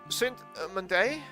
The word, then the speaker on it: Saint-Mandé: Headquartered in Saint-Mandé. I mean, it's French, so everything has to have the emphasis, the strong syllable on the last syllable of the word.